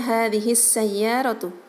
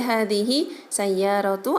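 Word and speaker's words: هذه السيارة: Nah, pengucapannya juga harus diidgham syamsiahkan ya. Jadi pengucapannya hadhis sayyaratu. Tidak boleh hadhihi sayyaratu atau hadhihi sayyaratun atau hadhil sayyaratu, enggak boleh ya.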